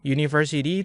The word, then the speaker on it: university: Tapi kalau kita lihat ketika bacanya, ketika kita melafalkan university itu kan dilafalkan gini. University. Nah, kemudian teman-teman perhatikan deh bagian depannya nih. Ini suara apa? Suara vokal, suara konsonan. Suara konsonan kan U gitu kan.